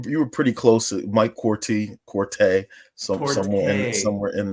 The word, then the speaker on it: Quartey: number two Mike quy and I I did pronounce that right corre correct Mike yeah you you were you were pretty close Mike Corte Corte some somewhere somewhere in there uh okay